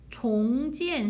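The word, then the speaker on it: 重建: 종지엔 신런에서 이때는 종, 무겁다의 뜻이 아니라 다시라는 종으로 발음하셔야 돼요.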